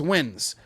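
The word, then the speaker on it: Nguyen: seven eight of them the whole team is wins you know what i'm saying but they haven't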